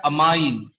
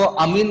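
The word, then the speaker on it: amine: इसका जो प्रीफिक्स होता है वो होता है अमाइनो, और इसका जो सफिक्स होता है वो होता है अमाइन। इसको अमीन मत बोलना, अमाइन बोलना, ताकि मैं कंफ्यूज ना हो।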